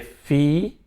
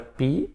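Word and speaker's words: φ: Só toma cuidado que aqui, né, aqui é fi, não vai pronunciar pi, tá?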